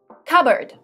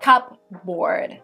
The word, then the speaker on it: cupboard: words in this video cupboard the pea is silent so it's not cup board it's cupboard cupboard is a piece of